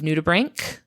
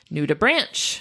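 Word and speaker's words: nudibranch: is a type of nutubbrank which I pronounced nuda branch for the entire episode it was very embarrassing once I found out that that was not how that is pronounced and I would very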